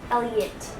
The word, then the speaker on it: Elliott: Now, do you pronounce it Elliott, Elliott, Elliott, or Elliott? Elliott. Elliott, okay.